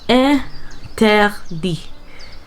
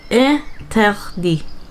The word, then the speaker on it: interdit: My favorite word, actually, it's pronounced interdit. Interdit.